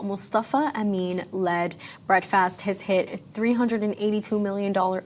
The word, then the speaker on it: Breadfast: First of all, it's Breadfast. Breadfast, it's a play on breakfast.